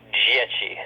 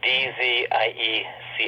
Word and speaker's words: Dzieci: It's pronounced Dzieci. It's Dzieci. It's Polish. It means children.